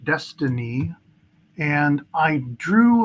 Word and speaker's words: DXYZ: So here's DXYZ, pronounced Destiny, and I drew like a worst case scenario if it did an ABC down to the 618 to 786 zone.